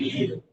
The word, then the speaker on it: knew: अब इसमें के का उच्चारण नहीं किया जाता है, साइलेंट कर दिया जाता है। स्टार्टिंग के से होती है लेकिन के बोला नहीं जाता, ये आप भी जानते हैं।